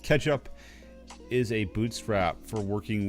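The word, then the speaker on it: k3sup: K3s up, pronounced Ketchup, is a bootstrap for working with K3s over SSH.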